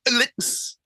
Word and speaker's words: Alex: You go, Alex. Alex. It's like it's a little mini Alec. What I loathe is when people call me Alec, A-L-E-C, because that basically is an infirm Scottish gardener.